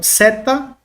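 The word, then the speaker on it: ζῆτα: se escreve assim mas o som dela por mais que nós temos aqui transliterado no Z no português o som não tem o som de z pelo menos aqui na gramática oio rega ele vai trabalhar com o som de ds ds tá Edson como DS alguns TM como som de DZ tá DZ algumas gramáticas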